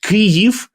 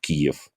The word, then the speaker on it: Kyiv: keep, as earlier, this Russian phonetic version of Kiev. And believe me, quite often, even people who are sincerely supporting Ukraine nowadays and sincerely tries to understand, it is hard for them to accept Kyiv instead of Kiev, or to accept Odessa with one S.